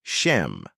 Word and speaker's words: Shem: Let's start with Shem. In many translations, his name is spelled shim, but it's pronounced shem.